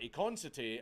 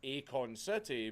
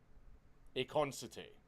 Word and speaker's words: Econity: There's no space in it, so I'm just pronouncing it the way it looks like it's supposed to be pronounced. Econity.